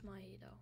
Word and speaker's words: Mahito: I think it's like Mahito? Yeah, I think. I watched JJK, I just don't know how to say his name. Yeah, it's Mahito.